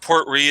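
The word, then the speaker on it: Port Ruighe: Well, it's just Port Ree is how you pronounce it, but yeah, it's Rughie.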